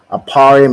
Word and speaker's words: Ephraim: ahead T aparium right aparium is how you say ephra in the Hebrew and it means I